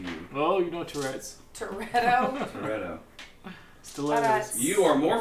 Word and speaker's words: Turreto: it, calls himself asshole Toretto. Now, spell it. Proceed with the spelling. T U R R E T O. Mal. Like Tourette's. Mal. Like Dominic Toretto from Fast and Furious.